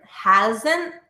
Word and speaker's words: hasn't: Noticing that ending T is never pronounced. Haven't, hasn't, hadn't.